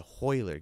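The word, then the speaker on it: Royler: horry and gracie and hoiler gracie they're actually spelt with ours but pronounced with an h because of the portuguese accent so i know it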